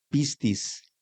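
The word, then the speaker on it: πίστις: La palabra fe se traduce del griego, de la palabra griega que se pronuncia pistis, cuyo significado principalmente comunica la idea de confianza y firme convicción.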